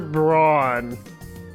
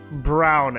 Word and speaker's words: Brown: And then Nai, Sister Braun, or actually it's Brown, not Braun. Brown. It could be pronounced either way, but it's actually pronounced Brown in this case.